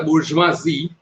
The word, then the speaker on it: bourgeoisie: and this middle class the burjwasi that's the pronunciation is in trying to